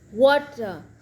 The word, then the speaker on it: water: So if a letter T form between two vowel sound voice, so we call it middle of vowel, the T is pronounced as D if the whole word is voiced.